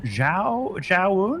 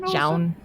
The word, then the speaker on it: Zaun: Like Estrella for Alpha X, Zaun for Alpha X as well, which apparently is pronounced Zhaun? Zhaun.